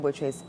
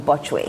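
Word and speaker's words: Botchwey: So congratulations to Shirley Ayoko Boche again. When I started journalism, I said I pronounced the name Bochwe. I pronounced it as it was spelled.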